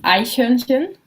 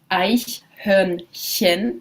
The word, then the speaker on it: Eichhörnchen: Und das Eichhörnchen, a very good one to practice your German pronunciation of ch. Eichhörnchen.